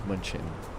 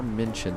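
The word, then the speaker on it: München: This is Munchin. Munchin. I always mispronounce it. It's more mincion than munchin. 13255.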